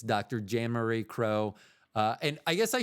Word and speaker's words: Kroh: for a dermatologist, uh the last name is spelled K R O H because I know when I've given that toarmacies and stuff, they immediately spell it like the bird.